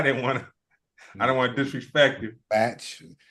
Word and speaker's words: Bach: Batch. The easy way to remember is his last name is Bachelor. Yeah. Oh, okay. Okay. So yeah, Batch, John Witherspoon, Charlie Murphy,